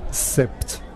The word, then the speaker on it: Sept: Sept Concept. C'est le chiffre 7, mais il faut prononcer le P.